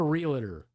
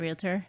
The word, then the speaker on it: realtor: also don't like when people say realtor real it's not a realtor it's a realtor it's a realtor it's